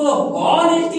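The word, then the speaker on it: honesty: Okay, इसको ऑनेस्टी नहीं बोलते हैं, क्या होगा, हॉ साइलेंट होता है।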